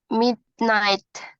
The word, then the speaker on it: midnight: and mid I don't Midnight he g-nya enggak dibaca Miss Iya jadi gh-nya enggak dibaca Midnight Midnight I don't eat lunch but